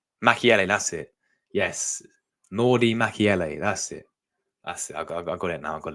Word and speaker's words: Mukiele: we're at right now so yeah yeah it's pronounced Mel mckiel Mel that's it yes Nordy mchele that's it that's I got it now I